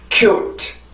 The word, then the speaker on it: cute: 단어의 끝이 T 발음이기 때문에 절대로 그 혀를 강하게 막아주면 안 되고, 입안에 모여있는 공기만 내보내면서, 빠르게 내보내면서 소리를 끝내주면 돼요.